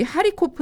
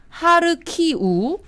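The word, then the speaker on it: 하르키우: 아니고요 크르릉 반도 입니다 로 제 2의 도시 하리 코프 는 하르 키우 동 슬라브 문명의 근간이 줘 드네프르 강 드니프로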